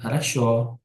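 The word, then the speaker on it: хорошо: dan penggunaan udar ini biasanya dibacanya mengayunlah haraso haraso jadi penekanannya jadi O haraso ketika di sini adaya maka bilangnya haraso gitu Oh yang terakhirnya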